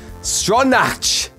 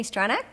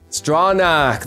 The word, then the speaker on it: Stronach: actress's name too, and how to pronounce it. Stronach! Hi, I'm Tami Stronach. Stronach, there it is.